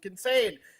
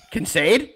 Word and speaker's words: Kincaid: Dalton Kincaid.